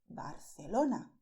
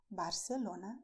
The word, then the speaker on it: Barcelona: And people from Barcelona say Barcelona. But you may say Barcelona. It is also correct.